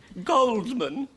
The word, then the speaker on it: Goldman: Goldman. I thought the D was silent. It is pronounced Coleman, isn't it? We've had some confusion. Oh, yes, Coleman. The D is silent in America.